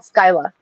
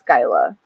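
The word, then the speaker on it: Scylla: this one yeah Sila this is called Skyla Sky it doesn't it doesn't look like it because it's s um c y l l a but yeah pronounce it it's Skyla so okay huh good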